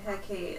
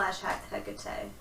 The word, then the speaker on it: Hecate: Hecate. Hecate. The E is its own syllable.